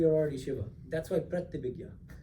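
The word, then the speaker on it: Pratyabhijna: Pratyabhigya is another name. Pratyabhigya. How do you spell that?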